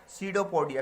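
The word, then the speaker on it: pseudopodia: Amoeba use its feet called सीडोपोडिया, P silent है इसमें, to engulf the food particle.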